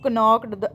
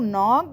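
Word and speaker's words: knocked: हु नॉक्ड एट the door. नॉक्ड में भी हमारा के साइलेंट जाएगा।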